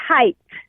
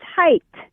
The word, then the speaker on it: height: I don't understand why even educated adults say height. It's height.